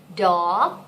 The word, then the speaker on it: dog: แบบออกเสียงเหมือนดอกเลยอะค่ะ Dog นะคะ And what is this one?